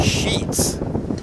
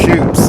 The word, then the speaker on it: Sheets: Thanks to Todd Moore for correcting my pronunciation of the Barton catcher's Maggie Sheets. In Nebraska, that same spelling is pronounced Shoots. So sometimes it's all where you're at.